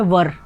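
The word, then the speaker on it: were: वेयर not, first of ऑल कि हम लोग यूजुअली इसको वेयर पढ़ते हैं, जबकि इसका जो राइट प्रोनाउंसिएशन है वो है वर.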